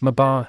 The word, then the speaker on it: mabar: But I've spent more time on land than any of me bar. Pez often punctuates his speech with the phrase me bar, which is actually spelled and pronounced mabar.